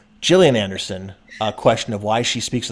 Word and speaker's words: Gillian Anderson: She said the soft G. Gillian Anderson.